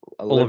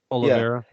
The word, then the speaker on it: Oliveira: How do you say his last name? Oliveira. Oliveira. Yeah, Oliveira. is man, he's a con artist when it comes to jiu-jitsu.